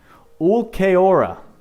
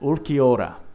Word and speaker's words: Ulquiorra: Ulquiorra. That's right. Ulquiorra.